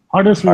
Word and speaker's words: Huddersfield: That's not how you pronounce it. Huddersfield.